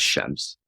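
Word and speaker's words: الشمس: example the Arabic word hashems meaning the sun is actually pronounced without the l sound as shems because of the following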